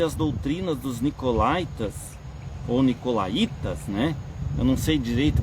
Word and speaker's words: nicolaítas: Nunca soube, não sei se é nicolaía, deve ser nicolaía, porque tem o acento mais forte no i, né?